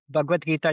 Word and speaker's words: Bhagavad Gita: Is there anything I pronounced incorrectly? So, because please correct what I said. Yeah, I mean, Bhagavad Gita, you got right.